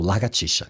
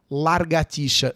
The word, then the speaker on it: lagartixa: Uns olhos Gostaria de frisar que o parlamentar em questão também desconhece a pronúncia da palavra lagartixa. Infelizmente, pronunciou largatixa.